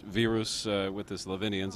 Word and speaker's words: Virus: I wasn't sure it's it looks like virus to an American or Englishman but it's actually pronounced vus with the leavians it's